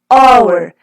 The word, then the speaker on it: hour: starting with balls but what about this an hour well we're going to start with age is